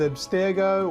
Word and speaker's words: Abstergo: the company known as Abstergo or abster however you want to pronounce it and the representation of